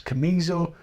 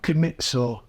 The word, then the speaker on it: Camiso: There's no T in it. I like Aliamida, but he can't pronounce Camiso. It's Camiso, not Camitso.